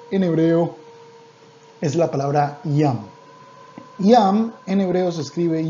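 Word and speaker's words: ים: La palabra mar en hebreo es muy sencilla, se dice yam. La palabra mar en hebreo es la palabra yam. Yam en hebreo se escribe yud mem sofid.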